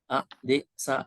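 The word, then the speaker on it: adesayi: There is no H. Ade. Adesai.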